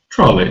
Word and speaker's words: trolley: the first syllable trolley i know it's stressed because the second syllable is a suffix an ending e y it's a common ending in english so it must be the first syllable that's stressed so we find the